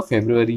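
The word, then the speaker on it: February: तो अगर फरवरी हम उर्दू में हिंदी में कहते हैं, लेकिन अगर इंग्लिश में आपको ये पढ़ना है तो आपको फेब्रुअरी ही पढ़ना होगा। इसके अलावा अगर आप कोई दूसरा कोई प्रोनाउंसिएशन करते हैं तो वो गलत है।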